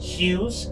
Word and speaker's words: Hues: also known as just hues. H Us, by the way, that's that's how you say it.